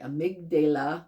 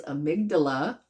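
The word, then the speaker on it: amygdala: was saying it wrong I was saying amydala but it's amydala and it's the part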